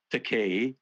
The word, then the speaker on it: Takei: the word gay then my surname rhymes with gay decay gay so the teachers